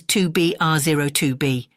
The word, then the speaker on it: 2BRO2B: call the zero in the telephone number he pronounced not the number was 2B R 02b it was the telephone number of an institution